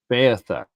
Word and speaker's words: Beothuk: and the Micmac and the how do you pronounce it? The Beothuk? Beothuk.